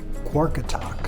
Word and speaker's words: Qaqortoq: Qaqortoq, I think is the correct pronunciation.